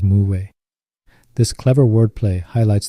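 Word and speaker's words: 無: and philosophy of life in Korean stomachless and Wu are homonyms both pronounced as Mu this clever word play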